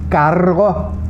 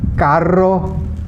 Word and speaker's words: carro: Double R's have to be really rolled.